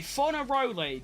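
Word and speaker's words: Fornaroli: Okay, Fonaroli, that is his name.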